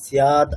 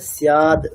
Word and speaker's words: स्याद्: যস্তাত্মরতিরেব সৎ এখনই বললাম ম্যাডাম, স্যাদ আকার, তাহলে আকারটাকে বলুন, দীর্ঘ করতে হবে, আকার উচ্চারণ করতে হবে। ইয়াদা বলছেন? হ্যাঁ, দন্তেশ্বয় যা ফলে আকার আছে তো, তাই না? হুম। তাহলে সিয়াদ দীর্ঘ করতে হবে তো ওটাকে।